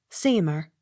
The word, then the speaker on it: Seymour: to church or locality s e y m o u r seemer accent on first syllable s t r a